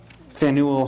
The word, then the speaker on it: Faneuil: How do I pronounce this? Faneuil Hall, or Faneuil.